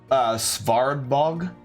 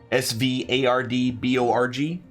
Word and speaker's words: Svardborg: Pronounce that again, please. Svardborg. Svardborg. Svardborg. B-O-R-G.